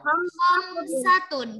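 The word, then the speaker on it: خمسة: Angka 5 bahasa Arabnya adalah khamsatun. Jadi menggunakan kha, bukan ha. Bukan khamsatun, tapi menggunakan Oke, pinter.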